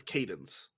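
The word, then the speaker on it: Cadance: assume it's wrong so her name is spelled c-a-d-a-n-c-e yeah um but it's pronounced in the show as cadence yeah but the word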